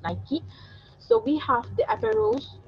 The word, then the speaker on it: Nike: nike nike product nike brand nike how you pronounce but i mentioned it's nike so we have the apparels approach the t-shirt